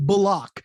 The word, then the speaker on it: Bullock: Because he just changed it and told the reporters that his name is pronounced Bullock. That's right. That's what that threw threw me everybody for a loop. Bullock. My name is not Bullock. It's Bullock. Okay.